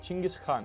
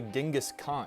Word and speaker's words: Chinggis Khan: Temüjin took this title after his rise to power, and it was originally pronounced something more like Chinggis Khan. So, why the heck do so many people say Genghis Khan?